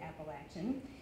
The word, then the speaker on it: Appalachian: She made sure that we knew to pronounce it Appalachian.